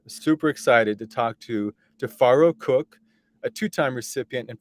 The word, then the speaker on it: Tifiro: name tafaro yeah well my name is tofaro uh the name is um is spelled in the African pronunciation with t-i-f-i so the I sound like A's but they're really they're pronounced with eyes spell with eyes I should say so